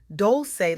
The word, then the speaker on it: Dolce: Welcome to Softgirl Era, hosted by Dolce, pronounced doulce like sweet softness whispered in French.